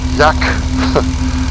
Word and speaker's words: Aike: Und zwar dort nach Jack. Und es wird völlig anders geschrieben als ausgesprochen, nämlich Aike. A-I-K-E.